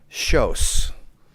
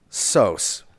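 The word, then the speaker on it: Soós: i'm sure everyone knows in hungarian is shos and in english it will be sos and uh it's my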